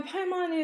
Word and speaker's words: Paimon: Yeah, Paimon is exactly how to say it.